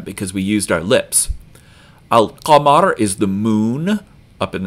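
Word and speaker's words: القمر: Al-qamar is the moon up in the sky. So al-qa is pronounced in the back of your mouth. So we hear the lam in alif lam.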